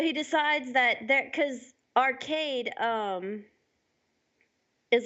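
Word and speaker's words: Archaide: to say you know it's it's arcade but spelt AR CH a IDE so I like that you know yeah I do that's cool so he decides that there cuz arcade is like is is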